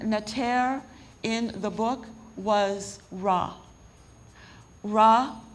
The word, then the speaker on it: Ra: One of the most important neter in the book was Ra. Ra, if you pronounce it Re, it's the same word, represents light and the energy which comes forth from the sun.